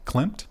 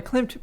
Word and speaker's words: Klimt: And Krista, I would say put yourself in the shoes of Rembrandt or Klimt. Is that how you pronounce his name? Klimt, yeah.